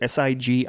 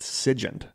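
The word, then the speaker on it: SIGINT: as signals intelligence or I've seen this pronounced different ways it's SI G NT I've seen it pronounced Sig and I've seen it pronounced sigen so I'm going to go with Sig I'll probably end up switching it back and forth specializing in a discipline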